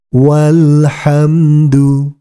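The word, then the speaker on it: وَالْحَمْدُ: mengikuti bacaannya alhamdu alhamdu walhamdu walhamdu ingat huruf alifnya dianggap tidak ada kemudian kita lanjutkan ma'alhamdi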